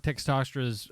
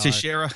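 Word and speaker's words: Texeira: I like Mark Textostra's, or I think that's how you pronounce his last name, Tex. That's just how Teixeira. There you go.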